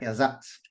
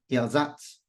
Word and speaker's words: Ersatz: Ersatz. The A is longer. Ersatz. Ersatz.